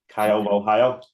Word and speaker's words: Caio Borralho: I'm loving the way you're pronouncing that. Caio Borralho.